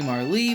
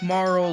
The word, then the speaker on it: Marle: First, I thought it was supposed to be Marley, but then I heard that in Japanese it's supposed to be she goes by Maru, which sounds more like Marl than Marley, so we're gonna have to go with Marl, which I've gotten used to saying Marl, so I really don't care.